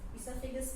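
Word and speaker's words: oesophagus: ईसोफेगस pronunciation में O आता नहीं है क्योंकि O साइलेंट है, इसलिए both which ways it is fine.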